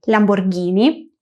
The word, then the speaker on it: Lamborghini: Más ejemplos de este sonido podrían ser guiacho, hielo, guirlanda, guirnalda y Lamborghini, que muchas veces he escuchado como Lamborghini. La H está ahí por un motivo y es precisamente para hacer el sonido gui. Lamborghini, fungi, guacho, guirlanda.